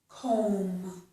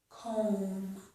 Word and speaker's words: comb: Many words that end in MB do not have the letter B pronounced. So this is comb, comb.